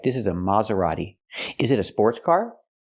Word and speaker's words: Maserati: So the first syllable is more open. Not ma but ma. Use the open sound ah like hot and stop. Ma. Maserati. And the t is not pronounced like t. It's pronounced d. A fast d. Maserati. Not Maserati, but Maserati. Use the fast D.